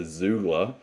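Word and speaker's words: Xoogler: oliver who's just told me that he's a zoogler which i didn't know what that is but that's spelled x double o g l e r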